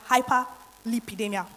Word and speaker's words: hyperlipidemia: hyperlipidemia there's nothing difficult about it it's just pronounced hyperlipidemia which is simply the presence of excess fat